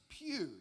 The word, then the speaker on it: Pugh: It's pronounced Pew. It's a Welsh Alors word. on prononce cela Pew parce que c'est un nom gallois.